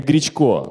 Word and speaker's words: Гречко: сотрудник Нижегородского планетария имени Гречко и Тема я специально перед этим посмотрел его фамилия ударение на е вот я вам честно